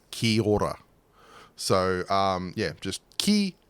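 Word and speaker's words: kia ora: how to say that so it's k-i-a-o-r-a so Kia Aura but the way uh Maori pronunciation is it becomes basically kihora so um yeah just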